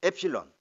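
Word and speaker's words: ἒ ψιλόν: g 해야 됩니다 이겁니다 엡실론 엡실론 엡실론 은 에 이름이 엡실론 이에요 엡실론 엡실론 자 앱 실로 4 4 그래서 에 발음이 나는 모음입니다 이건 뭐 입니다 그리고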